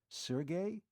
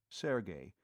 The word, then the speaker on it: Sergey: Sergey? You mean Sergey Povich? The fiend of Florence? She pronounced the name properly, Sergey, instead of Serge, as too many people were prone to do.